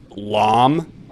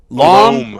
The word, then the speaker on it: loam: Loam. It's pronounced loam. Would you say that loam is absurd? To rhyme with dome.